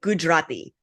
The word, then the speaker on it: Gujarati: So, like, I think Gujarati, it's spelled with an extra A. So it's like the Gujarati. If you cut out that first A, it's almost like you cut out that extra syllable that you're talking about.